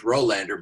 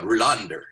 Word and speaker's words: Rohlander: And then the last name is Rolander, but the way they pronounce it at le my my attempt to pronounce the way they do is Rander.